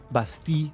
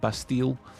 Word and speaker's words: Bastille: Yes, Bastille, as in the French, not Bastille. Although I will accept your Bastille pronunciations, even if you won't accept mine.